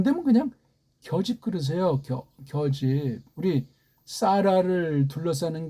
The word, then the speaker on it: 겨집: 겨집.